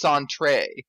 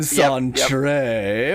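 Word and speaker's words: Sentri: guy named sentry but his name isn't actually sentry it just looks like it's sentry it's apparently pronounced sandre hi i'm sanjay the i by the way is or it's an i not a why by the way even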